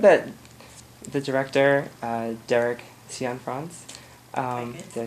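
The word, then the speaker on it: Cianfrance: um I read that the director uh Derek cion France um did I say it right yes you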